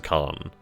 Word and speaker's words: Khan: Oh, it's actually pronounced as Khan. So like the Wrath of Khan.